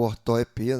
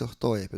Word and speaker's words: ortoepia: É claro que deveria ter um acento no se fosse ortoépia. Do jeito que tá aqui, a gente pronuncia ortoepia, mas aceita dupla pronúncia, né? Pode ser uma ou outra.